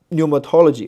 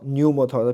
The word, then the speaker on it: pneumatology: 但是在英文里面这个 p 是不发音的。好，希腊文你要发出来，你要读 pneuma 啊，但是英文里面它就变成了 pneumatology 哈 pneumatology p 不发音了啊，所以这是英文跟希腊文的区别啊。